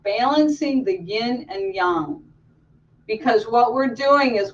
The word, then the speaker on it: yang: is why a ng sometimes people say yang but I think that Chinese usually pronounce it young so let's talk a